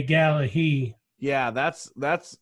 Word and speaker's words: Gallagher: that gallery well yeah I think we say either Gallagher or Gallaher but he would say gala he yeah that's that's